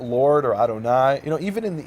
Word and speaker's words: Adonai: and the rabbis told them that word is pronounced as Adonai and they said okay what's Adonai mean Lord